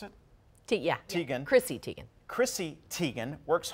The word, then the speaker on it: Teigen: All right, model Chrissy Teigen, is that how you pronounce it? Yeah. Teigen.